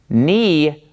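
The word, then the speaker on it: ν: But it doesn't make a V sound, it makes an N sound. This is ni, ni. So you got to get used to pronouncing this as an N, ni.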